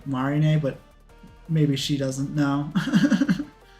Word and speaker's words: Marine: Oh, it it marin is is supposed to be pronounced like marine like English. Feel like I've heard her say Marina, but maybe she doesn't know.